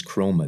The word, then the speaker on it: Chroma: chrome that CH are om a that is chroma that's how it is spelled and it's great and it looks like